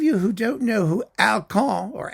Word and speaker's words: Alkan: Now, for those of you who don't know who Alkan, or Alkan, if you want to pronounce it that way, who he was, Alkan